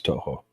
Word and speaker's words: Toho: I'm trying to figure out how else you would pronounce that. Yeah, I don't know. You got it correct. It's Toho.